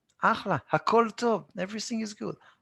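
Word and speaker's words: אחלה: Chaf and chet, we pronounce it the same.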